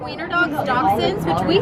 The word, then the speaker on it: dachshund: Like wiener dogs, dachshunds, which we say dachshunds.